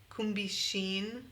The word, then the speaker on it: Kumbixin: Yeah, it's actually a combination of the name I was given in Taiwan. My name there was. And so it's Kumbia with, so Kumbixin.